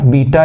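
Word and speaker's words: beta: मुझे समझ नहीं आता इसका स्पेलिंग होता है बेटा ऐसे लिखते हैं ठीक है लेकिन पढ़ा जाता है बीटा ठीक है ये भोजपुरी से बाहर है अंग्रेज लोग हैं इसी को हम लोग बेटा पढ़ते हैं हिंदी में और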